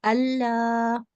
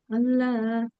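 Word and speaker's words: الله: So in Allah's name, that Lam with the Shadda, that is Lamul Jalala. And if that has a Fatha or Dhamma beforehand, we say it thick. Any other Lam with the Shadda, like this one, will be always pronounced thin, okay? So we say Allah.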